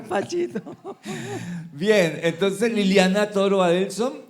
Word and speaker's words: Adelsöhn: Ella es Liliana Toro Adelson, así se pronuncia.